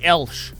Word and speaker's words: Elch: It's called I'm a Big Fan by Elsh. I think that's how you pronounce that. It's ELCH.